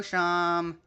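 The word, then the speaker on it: Seam: Hello, Sham. He welcome travelers. The names seem pronounced sham.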